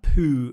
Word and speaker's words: Pooh: characters from literature um pooh bear yeah i know pooh as in go to the toilet but it's spelled p-o-o-h pooh bear so poo is um